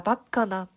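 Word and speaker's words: バカ: 자, 바카나 바보 같은 이란 뜻이에요. 바카, 우리 속어로 약간 빠가 이런 말 쓰죠. 원래 발음은 바카가 맞고요.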